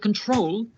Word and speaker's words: control: With control, the stress is on the last syllable, control.